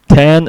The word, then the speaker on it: X: So X, or pronounced as 10, is the 8th studio album by the band.